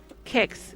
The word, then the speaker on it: QX: Game Boy says, "I've always I've also always pronounced it kicks because of the lack of the U in the name."